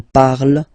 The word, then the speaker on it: parle: don't hate me, but you won't pronounce these letters, okay? You have to write them for the plural form, but you don't pronounce them, so you get il parle, elle parle. So the good news is